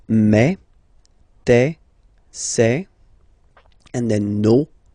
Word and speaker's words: me: Okay, so for the phonetical or pronunciation aspect of it, then remember that this es here combined will give you the sound eh. Okay, so you'll pronounce it like me.